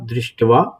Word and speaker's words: दृष्ट्वा: तो इसका जो उच्चारण बैठेगा वो होगा दृष्टवा तू पांडव अनीकम व्यूढ़म दुर्योधन तदा।